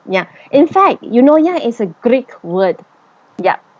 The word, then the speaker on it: Eunoia: scratch head and learn how to pronounce the word you know. Yeah. You know how our Malaysian style say you know you know. Yeah. It's actually the same pronunciation as that.